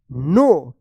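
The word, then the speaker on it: know: ई D replied I अब बताइए इसको क्या पढ़ेंगे कु या नो क्या पढ़ेंगे इसको इसको पढ़ेंगे नो क्योंकि यहां पे के जो है ना साइलेंट रहेगा।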